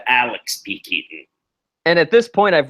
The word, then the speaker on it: Alex P. Keaton: Because she's drunk, she mispronounces his name, trying to introduce him. Axel P. Keaton instead of Alex P. Keaton.